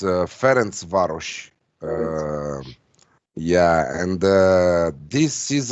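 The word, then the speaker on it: Ferencváros: going for and what's the best way to pronounce ferenc varus so it's uh ference varus yeah and uh this is another uh type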